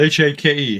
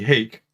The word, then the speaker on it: Hake: Now, one of the new brushes I want to introduce here is this is the Hake. It's spelled H-A-K-E, Hake.